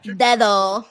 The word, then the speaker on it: dedo: Dedo. Dedo. Dedos is plural. Fingers. Froggy Bo. This could be it, Don. They going elbow for elbow. Oh. Dedo.